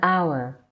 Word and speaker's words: hour: An is used if the noun following it starts with a silent H. Examples: an hour, an honest woman, an honor.